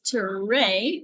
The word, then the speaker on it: Tere: Well, let me just say right away, my name is Tere, so it kind of rhymes with hooray.